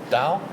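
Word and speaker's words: 到: It's not fu, it's dao.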